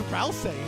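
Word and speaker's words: Ralsei: I also found out it's Rousece, not Rousey. I've been pronouncing Ralc's wrong name wrong this entire time.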